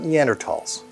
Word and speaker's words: Neanderthal: English speakers have ignored that silent H for over a century now, so it's technically fine to say Thal.